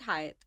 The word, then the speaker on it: Hyatt: it because they want you to sort of pronounce it well when you talk to guests about it. So it's Hyatt.